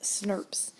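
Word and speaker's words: snRNP: next are called snoops I know there's no I in there but these guys right here they're pronounced Snopes these small nuclear RNA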